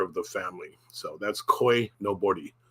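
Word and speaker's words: koinobori: So that's koi no bori. Koi no bori. Pronounce the R like a L.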